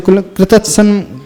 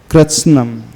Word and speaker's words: कृत्स्नं: ये कृत्स्नम पढ़ना, कृत्सनम नहीं पढ़ना, नहीं तो कृतत्सन, क्या कोई कुछ लोग पढ़ते हैं कृतत्सन, तो भी आधा है, स भी आधा, तो कृत्स्नम।